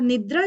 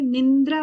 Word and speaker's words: निद्रा: विकल्प जो है 9वां हो गया, और निद्रा जो है वो 10वां हो गया। आप इसको प्रोनाउंसिएशन में निंद्रा बोलते हो कई बार, निंद्रा नहीं बोलना है, निद्रा, अंक की बिंदी नहीं है इसमें।